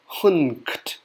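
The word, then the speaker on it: ḥnqt: There's actually a silent N that's not represented. So it's actually pronounced hunkt with an N in there.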